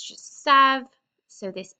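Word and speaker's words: savent: e z n t remember we don't pronounce that e n t there it's just Sav so this e makes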